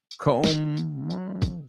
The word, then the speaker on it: comb: Comb rhymes with so. Comb, so. But I'm looking for the the ending, right? So, home, roam, right?